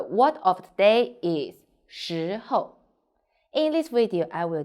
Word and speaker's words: 时候: i'm sunny the word of the day is xi ho in this video i will teach you how to pronounce it how to write it and how